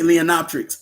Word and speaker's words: Leonopteryx: Yeah, Leonoptix, but in the movie they say Leonoptrix, but I Leonopteryx. But I think the A is silent. That's why they say Leonoptrix. Because if you say Leonopteryx, it don't roll off the tongue very well.